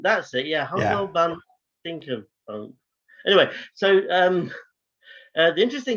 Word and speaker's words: Humperdinck: Humperdinck, that's it. Yeah, Humperdinck Dinkerbonk.